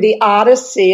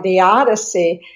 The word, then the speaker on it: theodicy: I was planning to write a poem honoring somebody and honoring the odyssey of his life. And I was looking for a rhyme for the odyssey.